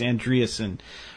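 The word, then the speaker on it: Andreasson: I always mispronounce her last name, but it's Andreasen.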